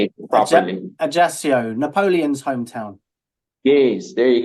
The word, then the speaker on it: Ajaccio: Ajaccio, Napoleon's hometown.